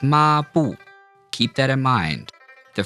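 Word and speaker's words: 抹布: A fourth tone starts right about where a first tone would start and end. So it's not ma and then bu. It's ma bu.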